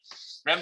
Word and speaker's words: rem: 램 들으면 양이 램인가 새끼야? 램 그 램이 아니고 램은 램 발음이 그래요.